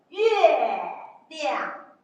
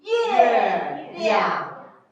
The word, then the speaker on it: 月亮: Okay, we call it 月亮. So if we like, they repeat after me. 月亮. 月亮.